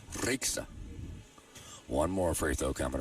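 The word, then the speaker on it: Rieksta: Nice shot by Jennifer spelled R I E K S T A. She says you roll your R. Ra.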